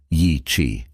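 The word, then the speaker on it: Yi qi: Yi, that's spelled Y IQI and it means strange wing in Mandarin.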